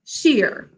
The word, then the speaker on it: Shere: The first word is one syllable, sheer.